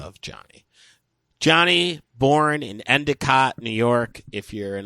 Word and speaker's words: Endicott: Johnny born in Endicott, New York if you're in upstate pronounced Indicott uh Hart published his first work in Stars